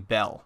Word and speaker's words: Bael: the later Kingdom and the Babylonians pronounce his name bell which later became associated